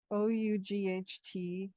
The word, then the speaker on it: ought: that o-u-g-h-t by itself o-u-g-h-t that's a word it it means ought it's an old word it means you should have but anyway the important thing is how to say it ought so how do